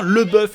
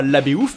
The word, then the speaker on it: LaBeouf: le bœuf et oui ça se prononce bien le bœuf et non pas LaBeouf même si je suis